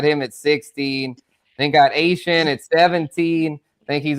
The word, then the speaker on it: Achane: They didn't run it much last The new pronunciation. Yes, not Devon Achane. This is Excuse me. Travis Achane. Yeah, or Achane for those I put it on the ticker. It's I know you have to say it Yeah, yeah, for sure, for sure. Achane. Yes, the Cajun pronunciation, the Cajun French way.